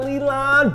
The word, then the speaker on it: Lilan: Like, lawn, L-A-W-N, lawn. Like, yeah, like, that works for people, like, right?